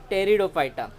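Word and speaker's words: Pteridophyta: हैं, थैलोफाइटा, ब्रायोफाइटा एंड P silent है मतलब आपका टेरिडोफाइटा।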